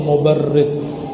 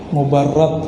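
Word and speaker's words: مبرد: Man ra'a wajhaka yas'ad ya karimal walidaini, hauduka safil mubarrid, wirduna yawman nusyuri. Mubarrad bacanya, as-safil mubarrad.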